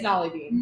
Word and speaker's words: Nolly Bean: It's Nolly Bean.